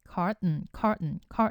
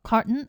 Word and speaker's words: carton: 미국 분들은 주로 T 사운드를 그냥 삼킵니다.